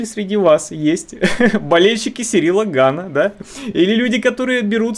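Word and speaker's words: Gane: что они забрали жир, произнесите прямо сейчас фамилию этого бойца с ударением на второй слог.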